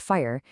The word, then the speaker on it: FHIR: So fire, and it's pronounced fire, is basically a universal translator for health data.